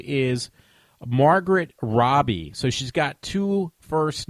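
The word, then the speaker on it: Margot Robbie: Australian I always said Margaret Robi for the longest time and nobody ever corrected me so I find out I see some interview with her and they say Margaret Robbie so that's how you say her name so finally I got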